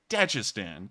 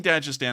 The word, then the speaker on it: Dagestan: And I'm saying Dagestan, I'm sure that someone's about to say it's Dagestan or something like that. I've heard Dagestan. I watch Bald and Bankrupt, and that's how he pronounces it, and he can actually speak Russian, so I'm pretty sure it's pronounced Dagestan.